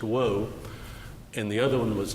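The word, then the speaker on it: Oahou: One was Dr. Woe, spelled O-A-H-O-U, but pronounced Woe, and the other one was Dr.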